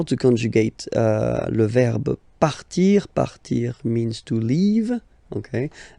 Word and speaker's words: part: Il, elle, part. Final T not pronounced. Il, elle, part.